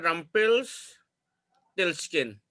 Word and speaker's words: Rumpelstiltskin: ये प्रोनाउंसिएशन है रम्पेल्सटिल्स्किन।